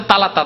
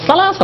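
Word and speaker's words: ثلاثة: সাহেব সেটাও জানা বলছে তালাতা আলাপ বললেন না তালাত আলাপ বলছেন তালাত আলাপ তো জায়েল মুরগা বলে একজন আলেম কি করে তালাতা বলবে সালাসা বলে সা বলে স্যার যে উচ্চারণ আছে মাখরাজ সেইভাবে বলবে কেমন করে তালাতা আলাপ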